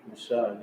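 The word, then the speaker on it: משה: Mashah.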